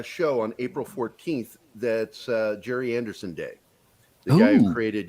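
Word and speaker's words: Gerry Anderson: The one time you can say Jerry when it's spelled that way. Is Jerry Anderson.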